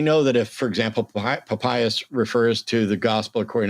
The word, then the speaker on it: Papias: So it's Papias, right? That's the correct pronunciation?